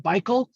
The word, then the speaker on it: Baikal: along this huge lake i think it's called baikal is how you pronounce this huge huge pristine lake in siberia